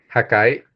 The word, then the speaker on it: HACAE: hábitat científico análogo espacial JACAE, se escribe HACAE, JACAE, y pues para que ustedes